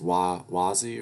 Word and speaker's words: Wazzy: Pronounced Wazzy, right? Yes, it's a cool name.